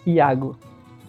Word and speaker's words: Iago: pronounce your name it's iago iago yeah correct okay wonderful yeah a lot of tutors mispronounce it they they uh try to spell with an l instead of an eye in the beginning okay it's got lago